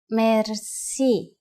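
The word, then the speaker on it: мерси: will be amazed which word that is merci merci merci is a lone word from french but it is pronounced with the typical bulgarian heart are it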